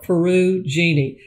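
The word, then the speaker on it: Perugini: books by donna parrigini it's spelled like peru jeannie p-e-r-u-g-i-n-i and my goodness those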